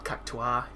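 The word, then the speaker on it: Cactuar: it which involves killing jumbo CAA or cacta that's how you pronounce it you know killing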